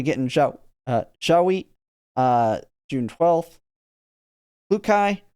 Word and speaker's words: Klukai: So we get in Zhaohui, June 12th, Klukai, or as they say, Kudakai, because I need to look that up. If it is actually Kudakai, I should say it that way. That's a Japanese way to say the LU or RU.